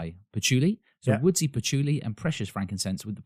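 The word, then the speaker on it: patchouli: h o u l i Puli so woodsy pachuli and precious frankincense with the power to evoke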